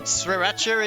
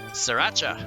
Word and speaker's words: Sriracha: So, the So, the first R is kind of silent. Done. Sriracha.